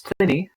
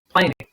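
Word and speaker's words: Pliny: put correct scenarios there the correct way to pronounce the dude's name is plenty like latin plenios not planning makes you sound like a yoko okay now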